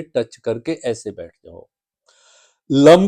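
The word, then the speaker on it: लं: Lump का उच्चारण ल म लम का उच्चारण करना है। जीभ को तालु से लगा लेना है।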